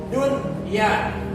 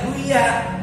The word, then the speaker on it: dunya: Tetapi karena satu kata dunia artinya dunia, maka wajib dibaca jelas. Dunya. Nggak boleh dibaca duya, nggak boleh. Robbana atina fid dunya, nggak boleh, nggak enak.